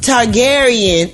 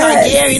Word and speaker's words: Targaryen: Targaryen. Yeah, yes. Targaryen. That's a good name for you, Gary. Targaryen. Yeah. It follows the House of Targaryen.